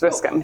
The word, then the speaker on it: Wiscombe: Okay, Yes, Wiscombe. Cool. Silent B and E.